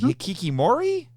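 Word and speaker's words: hikikomori: We're going to talk about you'll have to help me with the pronunciation on this, Bex, but what is it, the hikikimori?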